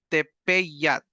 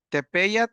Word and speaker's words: tepeyat: los ríos se llama tepat tepat Ah hay una e y una a hay que meter una y a la hora de pronunciar tepat tepeyat es la creciente del